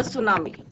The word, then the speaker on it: tsunami: Chapter is the tsunami. इसमें क्या है, हमारा टी क्या रहता है, साइलेंट।